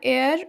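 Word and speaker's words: heir: उसके बाद एच ई आई आर, एयर, एयर means होता है उत्तराधिकारी। यहाँ देख सकते हैं एच से स्टार्ट हो रहा है जो कॉन्सोनेंट है, लेकिन उच्चारण ए से स्टार्ट हो रहा है, तो हम एन का यूज करेंगे।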